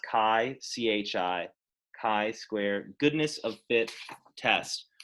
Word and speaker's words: chi: let's look at X that's pronounced CAI Zhi chi-square goodness-of-fit test